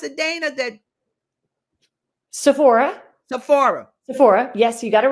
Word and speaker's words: Sephora: How do you pronounce it, Dana? That Sephora. Sephora.